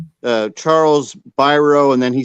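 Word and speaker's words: Biro: at the very beginning he says uh Charles byro and then he says pronounced by b-u-y Dash row r-o-w so it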